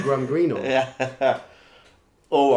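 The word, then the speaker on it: Graham Greene: must be something yeah Glam all right yeah that's how the American said it wrong yeah we should get some gram green or yeah all right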